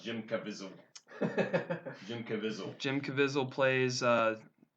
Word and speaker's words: Jim Caviezel: It's pronounced Jim Caviezel.